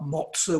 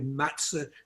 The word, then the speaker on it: matzah: They talked about motze when it should be matzah.